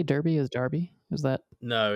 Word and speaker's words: Derby: You really say Derby is Darby? Is that? No, it's Derby is Another how you British say name?